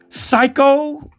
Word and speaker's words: psycho: I posted a while back, there are a lot of words with P on the beginning where the P is silent.